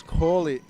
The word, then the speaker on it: Corley: say the name John apparently it's Corley Corley my mistake Georgia hope you can